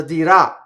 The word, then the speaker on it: dirà: So you can say cosa dirà or cosa dirà, right? So I accented both. Cosa dirà, right? So the accent is on the a of dirà, and that is actually the strongest accent in the sentence.